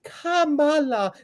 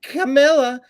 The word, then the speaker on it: Kamala: not Fanny it's funny it's Kamala not CA or camela or CA who cares when